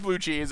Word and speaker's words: Bluchz: It's still pronounced Blue Cheese.